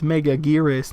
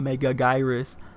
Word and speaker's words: Megaguirus: Megalon it's my top 5 favorite Godzilla films actually and that's purely a bias because I grew up with it it's megaguirus not mega gyrus I don't care man